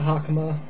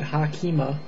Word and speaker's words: hakama: wearing one of these a hakama or as your students called hakima Craig if you're Japanese